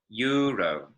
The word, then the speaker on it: euro: Euro. So the E and the U kind of squash together to make this Y noise, euro, okay? In Spanish, they pronounce the vowels separately. Euro is how you would